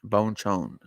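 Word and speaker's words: Bonchon: Bonechone. B O N C H O N. They say bone. That's probably how they say it.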